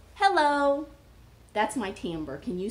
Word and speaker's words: timbre: So the cool thing about a woodwind quintet is that there's a bunch of different timbre. Can you say timbre? Timbre. Timbre. It's spelled like it's a funny word.